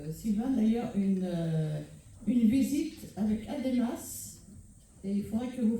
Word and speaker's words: ADEMAS: Ademas, ça s'écrit ADEMAS.